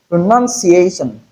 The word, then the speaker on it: pronunciation: Pronunciation we have how many syllables? 1 2 3 4 5 pronunciation. Pronunciation. So the first point I like you to note is that it is not pronoun. It's not noun but none.